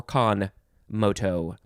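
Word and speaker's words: con moto: and then m-o-t-o moto you could also you could say kon or khan moto adverb from circa 1854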